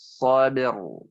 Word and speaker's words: صبر: Ya, watawasau bis sabir. Sabir. Ya. Ya, cara pengucapannya seperti itu. Sabir. Ba-nya biasa seperti pokoknya sabir. Nah, ketika masuk ra, sabir. Masuk sabir. Jadi, lidahnya ke belakang sabir.